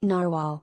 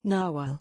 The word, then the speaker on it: narwhal: i keep forgetting it so here in american english narwhal in british english nawal are these really cat